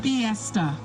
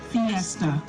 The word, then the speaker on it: fiesta: Uh please can you repeat the word piesta? The definition the definition of the word is a religious celebration featuring processions and dances of pagan heritage addressed to Christian saints. Am I pronouncing this correctly? Fiesta.